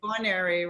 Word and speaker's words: Guarneri: Guarneri, am I pronouncing that right? Dr. Guarneri, right? Guarneri, right.